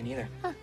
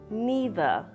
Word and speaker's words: neither: Me neither. Here we have an interesting word that can be pronounced in different ways. In American English, we say neither, neither. However, in British English, it's common to say neither, neither.